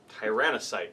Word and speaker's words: Tyrannocyte: And lastly, I'm bringing a Tyrannocyte, that's how you pronounce it, and it's going to be having 5 Death Spitters.